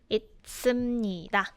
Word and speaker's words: 있습니다: Mind your pronunciation, it's 있습니다.